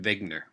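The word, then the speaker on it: Wegener: his name is Alfred vigner uh here it's spelled with a W but it is pronounced with a V and he as a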